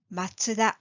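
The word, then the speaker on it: マツダ: four family names the answer is Toyota Honda matsuda and Suzuki let's focus on the first three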